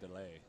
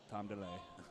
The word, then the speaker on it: Daly: Actually, his name is pronounced Tom Delay, and that is from. It's from last year when he was on, or 2 years ago when he was on Vinay's team. Vinay Delay? Yeah, whenever Vinay would pronounce his name, it was Tom Delay.